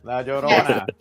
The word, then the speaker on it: La Llorona: La Llorona. Because I said like La. She's like La Llorona.